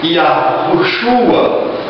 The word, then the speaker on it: Yahushua: Nós pronunciamos Iaruxua, tá? Iaruxua. Esta é a forma que eu acredito ser mais correta para a pronúncia deste nome. Se porventura algumas pessoas quiserem colocar o H, né?